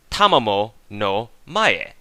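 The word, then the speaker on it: Tamamo-no-Mae: Repeat after me, class. Tamamo no mae. As in, ta, mamo, no, ma, lama.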